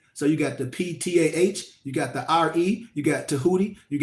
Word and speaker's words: Ptah: the gods and goddess, like they say with a P, Pa, but a lot of times the P is silent. So you got the PTAH, you got the RE,